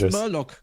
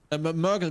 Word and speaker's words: Mergle: Well, first I have to turn in my another curious Merloc. Mergle. Mergle. Not Merloc.